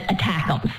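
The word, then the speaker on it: ATACMS: called the army tactical missile system known as attackums that's how it's spelled out with the letters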